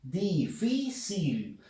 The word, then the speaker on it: difícil: ahora la palabra difícil difícil fuerza de voz en la sílaba phil última penúltima entonces si cumple con